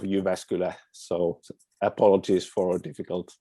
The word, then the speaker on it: Jyväskylä: Well, we usually say University of Jyväskylä, so apologies for a difficult name.